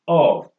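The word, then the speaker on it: awe: also a word like a w e pronounce us oh oh means a kind of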